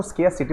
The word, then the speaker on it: scarcity: इसको आप स्कार्सिटी बोल सकते हैं, SCARCITY। स्कार्सिटी, सिटी में स्कार्सिटी हो गई, ऐसे याद करना, स्कार्सिटी। वैसे इसको स्केयरसिटी प्रोनाउंस करते हैं।